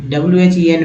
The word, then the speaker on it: when: EN को एन लगता है, यहाँ WHEN में H जो है साइलेंट है, इसलिए when they